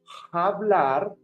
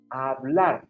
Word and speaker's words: hablar: Remember, the H in Spanish is silent. So we are not going to say hablar. If not, we will say hablar.